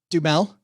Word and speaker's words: Duhamel: Josh, how do you pronounce his last name? I see it all the time. Duhamel? Dumel.